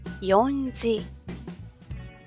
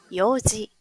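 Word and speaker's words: 四時: Ahora, aquí no vamos a decir yonji. Tampoco vamos a decir shiji. Aquí decimos para las 4 en punto, yoji.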